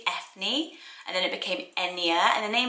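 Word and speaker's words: Eithne: It's spelled E-I-T-H-N-E, I think it's Ethne, and then it became Enya, and the name's also linked to Aiden.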